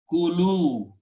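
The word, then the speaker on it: كلوا: If you want to make a plural of this thing, you add a vav and an alif which is not pronounced and call it kulu.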